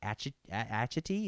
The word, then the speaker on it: Atchity: fake patties is Patrick Atchity. Is that how you say it? Yep.